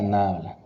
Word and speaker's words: nabla: El símbolo se pronuncia nabla.